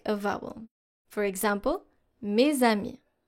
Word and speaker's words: mes amis: A liaison is when you actually link those two elements. So you take the last consonant of your first word and you link it, you pronounce it by linking it to the next vowel.